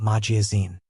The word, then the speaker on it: magazine: Magazine has stress on the last syllable. Majiazine. Oh, that changes to sound like in.